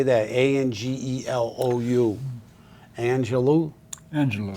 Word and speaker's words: Angelou: in someone else's cloud and that is Maya Angelou uh how do you say that a n g e l o u Angelou Angelou y Angelou Maya Angelou I only